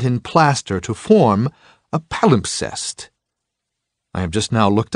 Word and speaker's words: palimpsest: to me now title palimpsest for years I've used this obscure word incorrectly worse I've always mispronounced it not sounding the second s I had thought that